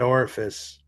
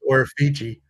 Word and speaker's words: Orifici: At the time, our drummer, Matt Orifice, that's how you pronounce that last name, even though he says Orifici, he never took a drop of alcohol once in his life, never.